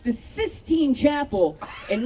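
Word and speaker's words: Sistine: The other day I found out it's actually pronounced the cyine chapel and not the 16th chapel.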